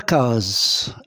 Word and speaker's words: case: Alors, la case S se trouve où? Entre deux voyelles, entre la voyelle A et la voyelle E. Donc, S se prononce Z. Et je lis case.